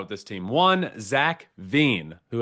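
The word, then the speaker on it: Veen: One, Zack Vine, who every time I say his name, I think of Vaccine.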